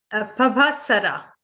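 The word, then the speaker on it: pabhassara: but this one goes luminous, and the word Pabaswara, and Santa, you can pronunciate it for me if you, the word luminous. Pavasara.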